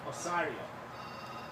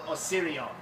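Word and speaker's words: Osireion: the remarkable and extraordinary Osario or Osirion depending on how you want to pronounce it which is which is of course dedicated to the god Osiris.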